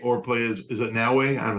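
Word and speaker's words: Naoe: So it said play as Yasuke or play as, is it Naue? I don't know how to say it, but N-A. That's right, Naue.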